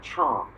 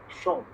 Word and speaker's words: chant: In French, they say chant, and we say chant. They don't pronounce the T.